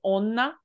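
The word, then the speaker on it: 女: It's actually pronounced as onna when it's by itself, but it is kanojo or shoujo and all those words.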